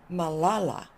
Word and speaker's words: Malala: Malala, the accent on the middle.